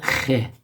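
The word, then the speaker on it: خ: from Middle Easterners, and it's called khe. Khe, as if, okay, let me draw the thing. As if you're clearing your throat and you have an itch. Khe, khe. That's the sound of it.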